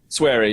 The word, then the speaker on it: Swery: yeah, the Fork Parker interaction with is his nickname pronounced Swery? Sweary, yeah, Sweary, yeah.